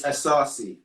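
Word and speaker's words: Asase: It's Asarci.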